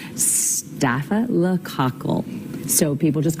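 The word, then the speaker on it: staphylococcus: If your doctor tells you you have this, they might just call it a staff infection, but it is pronounced stafa lacle.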